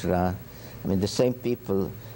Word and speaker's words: Ra: Some say Re, but it's Ra.